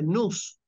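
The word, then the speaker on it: nous: entendimiento La palabra entendimiento en griego se dice nus nus se escribe en español N O U S nus Qué es el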